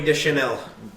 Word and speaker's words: Deschanel: Zoe Deschanel? Is that how you pronounce it? You're pronouncing it right.